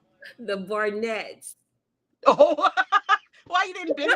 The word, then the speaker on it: Barnett: Bartons, The so the Barton Barnetts. had other children. They had some other boys, huh? What you said? The Barnetts.